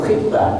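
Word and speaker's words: خطبة: Apa itu khitbah? Nah, jadi jangan keliru ya dengan khutbah. Tulisannya sama Pak, Bu, tapi bacanya beda. Doma sama kasroh. Khitbah melamar, khutbah Jumat.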